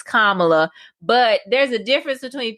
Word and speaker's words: Kamala: her business like why do we keep bringing kamala uh why do we keep pronouncing her name wrong chess i have to